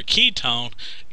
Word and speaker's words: ketone: at the ketone now the way that i remember ketone ketone uh sounds like the word key this almost sounds the